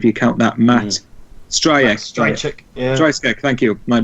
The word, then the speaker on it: Stryjek: Stryjek, thank you. My pronunciation's awful, but well, I mean, I think